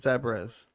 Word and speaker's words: zebra: like there's a no there's zebras like debra with a z no zebras are you